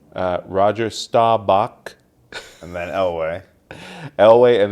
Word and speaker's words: Roger Staubach: I believe it's pronounced Roger Staubach.